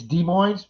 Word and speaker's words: Des Moines: raven heart detects thank you very much it's d moines really that's how they pronounce it it's not desmoines say you could tell i've never been there